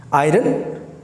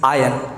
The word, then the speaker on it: iron: अगर मैं कहूँ इसमें R साइलेंट है तो आप इसे कैसे प्रोनाउंस करेंगे? तो अगर आप इस R को साइलेंट कर दें तो आप इसे सही प्रोनाउंस करेंगे और इसका सही प्रोनाउंसिएशन है इट्स आयन। क्या बोलेंगे आप इसे? आयन। तो आज के बाद आप इसे आयन ही बोलें।